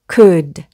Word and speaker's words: could: 앞에 C가 붙으면 would, could.